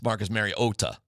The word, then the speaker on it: Mariota: and Collinssworth just leaned into it because obviously they had some sort of meeting or whatever and Marcus Mariota said no it's Marcus Mariota IT SOUNDED PROOF THAT HE SAID that yes that Marcus corrected them.